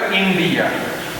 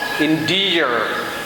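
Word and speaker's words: endear: ডিয়ার আগে হলো ইন্ডিয়া, ইন্ডিয়া, ডিয়া, ইন্ডিয়া। আটটা সাইলেন্ট থাকে ব্রিটিশ ইংলিশে। তাহলে ব্রিটিশ প্রনাউন্সিয়েশন হলো ইন্ডিয়া, আর আমেরিকান প্রনাউন্সিয়েশন হলো ইন্ডিয়ার, ইন্ডিয়ার।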